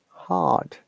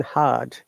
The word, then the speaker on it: hard: Now, according to the British IPA, we do not pronounce R in hard. So it is hard and I is longer R. Hard. But according to the American IPA, it is hard with R.